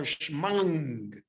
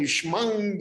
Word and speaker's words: Shema: they would say Kriya Shema. So I heard that from my Rebbeim yet, who were all Lithuanians. So they used to say shmang Yisrael, so that the ayin would be pronounced.